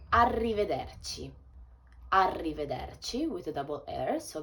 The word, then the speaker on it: arrivederci: you can say ciao you can say arrivederci arrivederci with a double heir so be careful with the pronunciation means goodbye and it's quite formal i